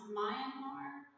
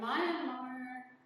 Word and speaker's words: Myanmar: There are several other wars, one in Syria, Sudan, Congo, a place, I think it's pronounced Myanmar.